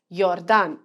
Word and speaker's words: Jordan: at an example so in english j o r d a n would be pronounced as jordan but in german it would be pronounced as yordan because it's spelled as